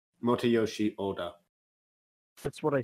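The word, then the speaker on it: Motoyoshi Oda: uh directed by uh motor roshi Oda and uh the movie I'm pretty sure you mispronounced his name but I will okay how would you pronounce it Mota Yoshi Oda that's what I said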